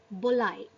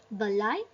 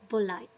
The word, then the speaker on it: Balai: So as per Bengali language, we pronounce Balai as Bolai. Instead of Balai, we pronounce it as Bolai.